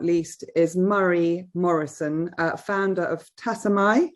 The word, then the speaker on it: Tassomai: And finally, last but certainly not least, is Morrison, founder of Tassomai. Am I pronouncing that right? Tassomai. Good.